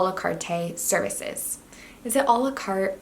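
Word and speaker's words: à la carte: I said this wrong the last time, and I still don't know how to say it. One second, please hold. A la carte. A la carte, not a la carte.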